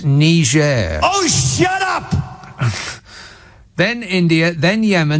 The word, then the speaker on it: Niger: then tanzania then and niger that's not how you uh think it's pronounced donny it's it's niger oh shut up then